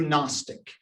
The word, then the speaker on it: gnostic: much of the last century was a new gnostic g-n-o-s-t-i-c silent g right gnosticism gnosticism was prevalent